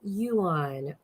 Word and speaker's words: yuan: it thank you tom yuan not the yen the yuan the chinese dollar um